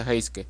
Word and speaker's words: Heisuke: Mientras que pues Luisin hacen las cosas de Luisin, conocemos a un nuevo compa llamado Heisuke, bueno, se pronuncia Heiske, que vive en una carpa en el techo de un edificio junto con su compañero periquito llamado Pisque.